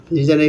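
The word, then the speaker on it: resign: ডিজাইনের পরে আছে রিজাইনের এখানে সেম জি এন একসঙ্গে আছে, জিটা সাইলেন্ট হয়ে গেছে।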